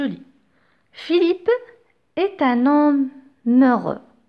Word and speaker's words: heureux: Philippe est un homme heureux. Je fais la liaison dans ce cas parce que le H de heureux, c'est un H muet.